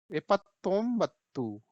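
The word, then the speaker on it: ಎಪ್ಪತ್ತೊಂಬತ್ತು: एपत्तोम्बत्तू, ये देखिए यहाँ स्पेलिंग देखिए आप, ठीक है, कैसे पढ़ेंगे?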